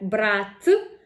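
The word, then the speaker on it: брат: For example, we have brat, brother, with the hard t, and brat, to take, with a soft t.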